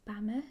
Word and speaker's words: Bama: by the 17th century the word was colloquially pronounced as bama so b-a-m-a and when the first europeans arrived